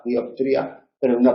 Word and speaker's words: dioptría: no es dioptría, y tampoco hay que hacerla desaparecer, no hay que decir diotría. Hay que pronunciarla relajada, dioptría, pero en una pronunciación cuidada hay que tener.